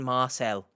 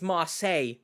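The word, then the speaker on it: Marseille: Marcel Daniel is in Marcel you make the joke there I it's marel Shannon come on now look at me I know how to pronounce French cities what hello editing H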